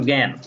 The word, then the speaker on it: জ্ঞান: করো, শব্দের শুরুতে যদি জ ইয় থাকে তাহলে উচ্চারণটা হবে গ চন্দ্রবিন্দু অথবা গয়জফলা চন্দ্রবিন্দু এর মতো। শব্দের প্রথমে হলে, যেমন জ্ঞান, এখানে শব্দের শুরুতে আছে, শব্দের শুরুতে থাকার কারণে গয়জফলা চন্দ্রবিন্দু আকার ন হয়ে গেছে জ্ঞান।